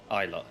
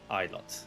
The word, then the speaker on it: Ilott: Ilott, yeah. I thought it was Ilott. Ilott. I've always heard it pronounced Callum Ilott. In the UK, we call it Ilott.